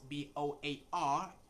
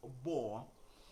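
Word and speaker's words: boar: and so that word the word spells b-o-a-r is not bo it is bo remember o a r is in that word and o a r usually most times takes the sound or and so a mill peak do not call it boa called it war all right i hope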